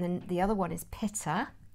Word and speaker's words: pitta: And then the other one is pitta. It's a bit like pitta bread, but it's spelled P-I-T-T-A.